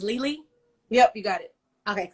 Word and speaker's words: Lili: But ultimately, and you said your name is pronounced Lili?